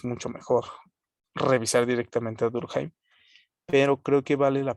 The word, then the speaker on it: Durkheim: Se escribe Durkheim, pero creo que en alemán sí se pronuncia Durkheim. Durkheim.